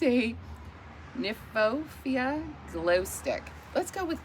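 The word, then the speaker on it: Kniphofia: I'm gonna assume the K is silent. It's a Nymphophia glow stick.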